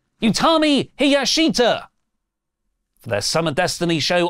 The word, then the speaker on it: Utami Hayashishita: Now, SP3 has texted me phonetically how to say this. Utami Hiyashita!